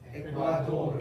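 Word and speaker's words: Ecuador: 에콰돌이라고 읽으시면 안 돼요. 에돌르. 에과돌.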